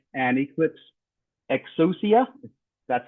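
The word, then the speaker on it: Exousia: and um glassfish 8 Milestone 5 and Eclipse exusia that's how you pronounce it 30 Milestone 3 concurrency um provides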